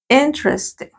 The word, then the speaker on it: interesting: la entone sí no I sino solo enes interesting interesting more interesting the most aquí tenemos la